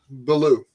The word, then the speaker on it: Billou: before we got going is it below or blue I'm I'm guessing one of those two blue blue okay all right so one